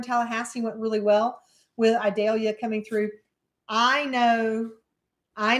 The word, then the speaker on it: Idalia: Julie over in Tallahassee went really well with idalia coming through I know I know the news